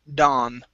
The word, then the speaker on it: dawn: Instead of dawn, okay, ah, only an ah sound. Dawn.